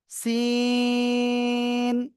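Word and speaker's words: سين: সিন। চার লিপটা নিয়ে এটা উচ্চারণ করতে হবে।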